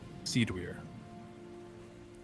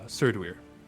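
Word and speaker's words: Cerddwyr: me in my dreams he uh called himself seed weir all right my mistake uh sir dweer yes sir sir do weir sir dweer sarah it's spelled hold on in common c-e-r-d-d-w-y-r also explained how it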